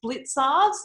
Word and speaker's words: Blicavs: in the future um the c is pronounced as tz so it's blitzards it's latvian and it's